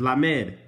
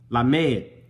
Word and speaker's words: lamed: This says Lamed. Lamed. Look at that, bro. I put it exactly how it's spelled, bro.